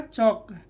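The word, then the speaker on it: chalk: ये के से पहले टी ए एल के क्या हो जाएगा, टॉक। डब्ल्यू ए एल के क्या होगा, बक। सी एच ए के एल के क्या हो जाएगा, चौक। एल का उच्चारण नहीं हो रहा है, ठीक है।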